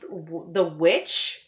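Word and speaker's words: The VVitch: But it's actually pronounced The Witch. Like, it looks like it's two V's, but it's supposed to be The Witch.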